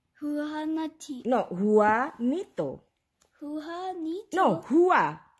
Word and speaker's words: Juanito: J in other countries, they are different. Sometimes pronounce H, sometimes pronounce Y.